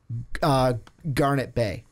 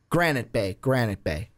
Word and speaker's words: Granite Bay: Jake is from Garnet Bay. I think I said that right. Granite Bay. That's how you say it.